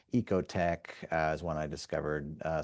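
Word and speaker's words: OEKO-TEX: standard setting organizations like Ecote Tech is one I discovered uh somewhat recently. It's spelled kind of strangely, OE KO. I think it's like a German kind of spelling and then TE X.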